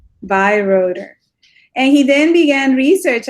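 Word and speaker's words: Beyreuther: How you pronounce his last name? Bayreuther. Bayreuther.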